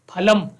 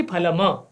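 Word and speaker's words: फलम्: तो ये ध्यान देने योग्य वाक्य है कि संस्कृत में जहां कहीं भी आपको पूरा अक्षर दिखता है तो उसका उच्चारण भी आपको पूरा ही करना है, आधा होगा तो आधा करना है।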